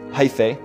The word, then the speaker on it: hyphae: And over here, we can also put rounded off edges with the stripped warped hyphae.